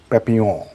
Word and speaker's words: Papillon: And तो मैंने देख लिया था एक फिल्म जिसका नाम है Papillon. Papylon. L-O-N. Right. French pronunciation is papillon.